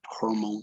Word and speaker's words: hormone: And this O sounds like as if you had an O followed by a U. It's like hormone, hormone. Hormone. Okay, no, it's not Hormone. hormone, it's hormone. Hormone.